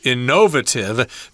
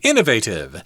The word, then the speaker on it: innovative: I should also mention that this word can be pronounced innovative, depending on where you are. I think they say it that way in England, whereas Americans say innovative.